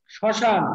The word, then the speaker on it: শ্মশান: যেমন আমরা বলছি যে শ্মশান কি বললাম শ্মশান শ্মশান শ্মশান বানান তালুকব্য স এর সাথে মাইনা শ্মশান জি স্যার ম এর স্যার হ্যাঁ ম এর উচ্চারণ এখানে নাই ম এর উচ্চারণ কি